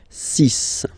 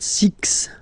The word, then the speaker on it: six: be careful here because even if it's ending with this x well you'll have to press pronounce it like s okay so you get the sis pronunciation Sis Sis okay so it's not six it's sis all right then here